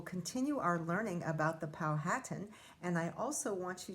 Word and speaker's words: Powhatan: i was growing up we always said powhatan but we've heard lately that the powhatan people prefer the pronunciation powhatan so that's what i'm